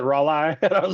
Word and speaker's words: Raleigh: No, Raleigh, North Carolina, and you pronounce it Raleigh.